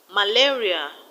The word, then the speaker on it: malaria: Malaria, the stress is on la. Malaria.